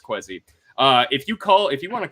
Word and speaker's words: Kwesi: We're pretty sure it's Kwesi.